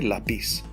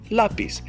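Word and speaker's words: lápiz: raise your voice because if it just said lapiz without the accent mark then i would have to say la peace to the rule but we don't say la peace we say la peas same thing with pasión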